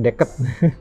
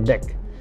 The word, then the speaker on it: Deck: Kalau orang sini pasti sering dibacanya Deket. Deck, bacanya Deck.